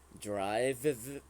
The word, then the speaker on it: drive: It is drive. Don't forget the v at the end. Drive. This is Info. the v sound at the end.